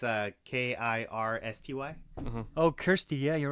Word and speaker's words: Kirsty: the way the zabit say way they way it's spelled it's uh k i r s t y oh Kirsty yeah you're right KY it's Kirsty